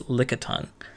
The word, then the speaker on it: Lickitung: Dang it, it sounds like I'm pronouncing it weird because I'm trying to say Licky Lick, but it's Lickitung.